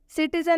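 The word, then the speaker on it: citizen: जैसे सिटीजन में सी का उच्चारण स हुआ है, केबल में सी का उच्चारण क हुआ है, स्पेशल में सी का उच्चारण तलाबे श हुआ है।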